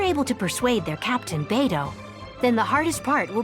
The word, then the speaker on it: Beidou: And in case you are curious about this character's pronunciation, it is Beidou, not Baidu.